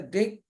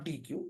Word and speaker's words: deque: The word Deque is pronounced as Deque or DQ.